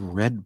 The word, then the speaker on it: read: And the ovulus says, I said, "It said red poem. That's your validation. The word read can also be pronounced red in past tense."